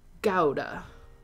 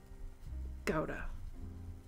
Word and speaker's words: Gouda: Oh, Gouda is actually pronounced Gouda. Gouda.